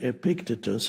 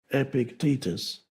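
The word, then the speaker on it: Epictetus: Epictitus I used to say Epictitus and then I realized that stress the stress is on the second syllable. Epictitus.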